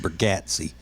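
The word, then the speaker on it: Bergatti: do Nathan burgatti burgatti his name's pronounced burgatti so if you're fan of his and you don't pronounce it burgatti then I already know more than you do about it it's not burgatti it's burgatti and he will be on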